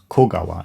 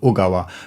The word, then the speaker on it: 小川: On a side note, when I made the playalong version for the song, I thought the pronunciation was Kogawa instead of Ugawa, but I think Ugawa is correct.